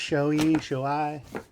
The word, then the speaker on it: Shoei: I believe it's pronounced Shoei.